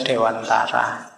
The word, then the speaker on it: Dewantara: Ki Hajar Dewantoro ya kalau pakai bahasa Jawa kan bacanya Dewantoro nanti yang mungkin tidak familier ya bunyinya jadi Kia Hajar Dewantara gak apa-apa sama kayak